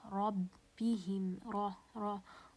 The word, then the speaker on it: ربهم: And when case number one, when the ra has a fatha, as in the word ربهم, as you can see here, the ra has a fatha, so it's going to be pronounced as a heavy ra. ربهم, ربهم.